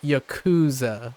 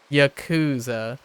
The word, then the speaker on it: Yakuza: Yakuza uh out loud it's kind of like Yakuza right Yakuza instead because uh um and it makes it very uh I like that I like uh the first syllable emphasis it makes it